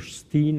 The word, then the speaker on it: Stein: the comedian or actor Ben Stein, or Steen as it might be pronounced in the States, is presenting it.